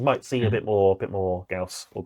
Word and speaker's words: Gauss: So yeah, you might see a bit more Gauss or Gauss, so it's pronounced.